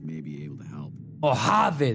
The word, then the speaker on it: Mojave: Mojave. That's how you say it. No Mojave. All right.